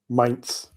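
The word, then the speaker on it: Mainz: I think it's Do you pronounce it mains or men's? Mates.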